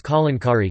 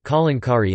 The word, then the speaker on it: Kalamkari: The art Kalankari is pronounced as Kalankari, Kalankari in Andhra Pradesh.